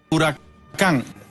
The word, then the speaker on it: Huracán: the word drop th first thing you do drop the H break it up into two pieces of three letters three letters in each group you are a C a.m.